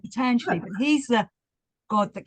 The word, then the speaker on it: Patanjali: I quite liked, well, I've always called him Patanjali, and I've heard other Indians call him Patanjali. And then I went to one of the theosophical schools, and it was Patanjali. That's how you say it, Patanjali.